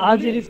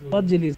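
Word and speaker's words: واجلس: ইয়া খালিদু, হে খালেদ, আকরিম দইভাকা ও আজলিস হু বিজান বিকা, হে খালেদ, ওয়া আজলিস না বলে ওয়াজলিস বল, হামজার উচ্চারণটা ওয়াজলিস হু বিজান বিকা ওয়া আত ইমু ওয়া আত ইমহু জানিবিকা, বিজানবিকা বললে তো সর্বনাশ।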